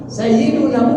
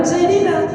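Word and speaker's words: سَيِّدُنا: Kalau mau membaca Sayyidina itu ditengok lapasnya. Kalau lapas Sayyidi itu tidak diawali dengan huruf jar, maka hakikat membacanya marbut bid dhamma, Sayyidu. Sayyiduna Umar, Sayyiduna Ali, Sayyiduna Umar, Utsman, jangan Sayyidina.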